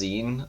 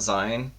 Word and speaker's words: zine: found out today that it's pronounced zine not zion yeah that upsets me